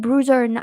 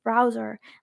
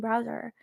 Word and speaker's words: browser: I keep saying bruiser instead of browser. Like I'm like, why am I not saying browser?